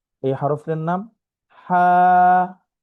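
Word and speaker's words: ح: তো হা এই হরফের নাম হা। হার উচ্চারণ হচ্ছে কণ্ঠনালীর মধ্যখান হতে আওয়াজকে চাপ দিয়ে হা, হা, হা।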